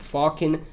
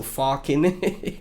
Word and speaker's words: Falken: It's f a l k e n like Balkan, right? I know people that are you know, uh from the the Netherlands and Slavic, right? So, Falken Protocol.